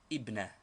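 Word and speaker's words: ابنة: tear thus ibnetune daughter but in speaking or in newspaper reading this tanwin is always dropped as it is only a case ending and the word is pronounced ibna similarly Madina tune Medina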